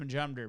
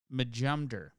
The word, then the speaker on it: Majumder: It's pronounced Majumder, by the way. For anybody who's wondering, it's pronounced Majumder.